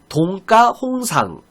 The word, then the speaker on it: 동가홍상: 동가홍상. 자, 우리가 뭐 동가홍상이라고 하는데 표준 발음은 동가입니다. 뒤에가 된소리가 돼요.